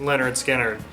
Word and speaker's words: Lynyrd Skynyrd: top 15 Raquel Volta this copy of leonard skinner pronounced leonard skinner i think this is